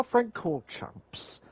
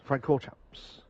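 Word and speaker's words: Francorchamps: no Spotify call Champs Frank call Champs is that how you pronounce it yes Spa friend chord Champs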